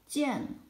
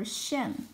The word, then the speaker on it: 见: jiàn ，This is a polyphone. It can be pronounced as jiàn or xiàn according to different contexts.